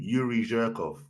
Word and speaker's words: Yuri Zhirkov: Yuri Zhirkov.